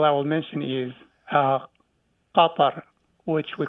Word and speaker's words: Qatar: the second example I will mention is uh Kar which we call Qatar the uh country of